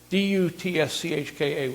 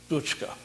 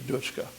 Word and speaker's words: Dutschke: It's Dutschka, which in German should be pronounced Dutschke. Yeah, Rudi Dutschke.